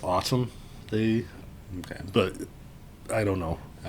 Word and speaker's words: ATUM: opera, 33 songs, and it's spelled ATUM. I believe it's autumn.